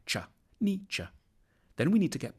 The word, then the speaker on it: Nietzsche: The challenge begins with how to pronounce his name. The first bit should sound like ni, the second like cha, Nietzsche.